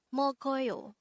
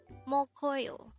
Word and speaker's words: 먹어요: angle we're going to study about the word mokoyo let's start learn korean one word at the